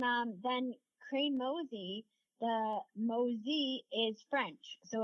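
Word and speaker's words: Mauzy: Mo crazy and um then crane mosy the mosy is French so it's m Au U zy um and a lot of people mispronounce it and the announcers would say Jamie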